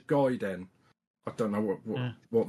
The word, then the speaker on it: Gaiden: having a g apparently it's not ninja Guiden it's ninja no it's not ninj gayen it's ninja guen I don't know what